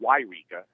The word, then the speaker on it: Yreka: There's two towns. I-5 goes through Yreka, and then Eureka with the E is on the coast.